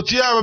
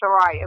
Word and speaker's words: Chariah: So, Chiara, baby, how they treating you out there these days? I'm good. And actually, the correct pronouncing is Chariah, but they're treating me very Well, let me know it then, Chariah.